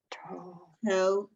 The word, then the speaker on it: Torah: H on the end is silent, right?